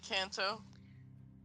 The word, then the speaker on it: Kanto: I'm sorry, I always forget how to pronounce that. Kanto. Yeah, Kanto.